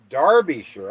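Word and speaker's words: Derbyshire: other guy pushy Smurf Derby sure is pronounced Darby sure oh my goodness Taylor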